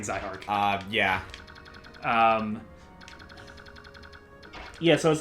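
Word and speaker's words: Zihark: So I guess we've been saying Zyhark's name wrong. Yeah, it's Zyhark. Zyhark, and this is proven because Fire Emblem Heroes has a voice actor and he says his name.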